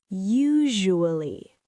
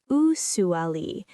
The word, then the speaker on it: usually: Usually. Not usually. The S sounds like j.